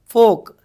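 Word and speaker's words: folk: फोक, L के आते देने, L हमेशा साइलेंट रहता, देखो चौक, वो क्या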